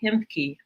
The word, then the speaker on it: Ahemke: And he is the founder and director of the Hemke Center, spelled Ahemke, but the A is silent.